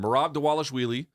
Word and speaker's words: Merab Dvalishvili: It's spelled Dvalishvili, but it's pronounced like a W, I guess.